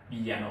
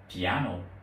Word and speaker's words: piano: Anh thì sẽ tách ra sẽ không có đọc là piano mà đọc là piano piano nhấn trồng Âm ở thứ hai từ